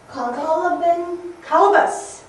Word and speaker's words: colobus: It's called a, it kind of sounds like, it's called a, three syllables. Colobus.